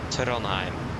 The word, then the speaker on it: Trondheim: The correct pronunciation, okay, so that will be Oslo and Trondheim. But that's for the name. If you want the airport name, that will be Gardermoen and Værnes.